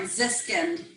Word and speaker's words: Ziskin: Ziskin. Ziskin. I thought that's what it was. I was like, it's got to be just like it's spelled, right?